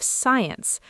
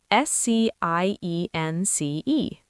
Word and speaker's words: science: Think of science. S C I E N C E. You don't say sky ants. You say science.